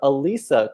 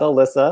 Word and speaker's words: Alisa: Okay, that was my conversation with Dr. Alisa Kauffman, not Alyssa.